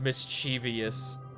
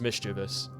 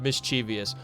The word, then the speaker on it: mischievous: anything concrete behind anyway he actually said mischievous that's I love that that's so funny mischievous is like a colloquially accepted pronunciation the word is mischievous the word is mischievous there is no ey following the V it's not mischievous but People Say mischievous